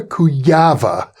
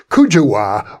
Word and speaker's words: Kujawa: Joanna Kujawa. She's Polish, and that's the Polish pronunciation, but I've heard it mispronounced or pronounced otherwise by English speakers such as Kujawa or Kujawa.